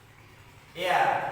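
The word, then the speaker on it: heir: এয়ার, উত্তরাধিকারী, এখানে কিন্তু আমরা হেয়ার বলছি না, কি বলছি? এয়ার, এইচ উচ্চারণ নেই, সুতরাং কি হলো?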